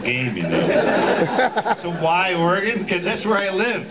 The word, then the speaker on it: Oregon: anywhere near that state Oregon it kind of flows out like that yeah Oregon Trail just like the Oregon Trail are you from con